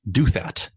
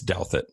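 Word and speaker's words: Douthat: but here's the thing I thought his name was do that I've been pronouncing it like that for years and I feel like a total idiot I heard him say it it's doubt that I guess I can't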